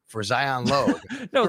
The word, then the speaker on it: Logue: Is it that they tell you what it sounds like or rhymes with sometimes, like rhymes with rogue for Zion Logue?